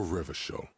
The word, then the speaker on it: Revachol: For Revachol, your city. If it doesn't rhyme, you're not pronouncing it right.